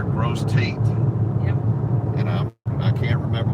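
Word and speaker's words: Grosse Tête: We want to know how the locals pronounce the name of the town. Like this one here, Gross Tate.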